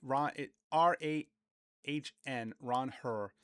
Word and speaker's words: Ranger: The Spanish way to say Ranger. And I've talked to Latin players over the years. They are really loosey goosey with pronunciation. They don't care if you say the American version and here. So Ranger, he's fine with RAHN, Ron Herr Suarez, the Spanish way, but introduced, great personality.